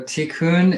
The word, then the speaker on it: tikkun: don't we talk about what t-coon is if that's how you pronounce it yeah sure so so tikkun is um is repair